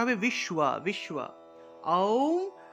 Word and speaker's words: ওম: আওম, আর আওম উচ্চারণ হবে, আ দিয়ে আরম্ভ করবেন, আ দিয়ে।